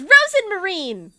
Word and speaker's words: Rosmarine: Rosen Marine rosmarine but the audio bark is Rosen Marine like actually saying her name properly but she's mispronouncing it